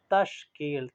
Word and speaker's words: تشکیل: تلفظ کے ساتھ پڑھیں۔ تشکیل، تا کے اوپر زبر ہے، شین جو ہے وہ سکون میں ہے، کاف کے نیچے